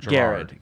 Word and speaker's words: Gerard: I was thinking that your character's name is Jared, and he's based on Gerard. Garrard. Garrard. It's spelled Gerard, but it's okay.